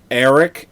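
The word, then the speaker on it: Airk: see Gavin O'Hara Lee his name is Eric and it's spelled a-i-r-k Eric Eric yes again sci-fi is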